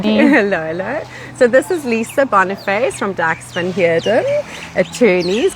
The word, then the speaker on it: Boniface: Gare and something other Boniface Stadium. Okay. So there we go. My surname is French. Yes, okay. It's supposed to be pronounced Boniface. Oh, okay, yes.